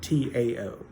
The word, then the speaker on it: Tao: Taoism believes in something called the Tao, T-A-O, all right? It's pronounced like it's D-A-O-W, Tao, but, it's spelled Chinese, so it's T-A-O.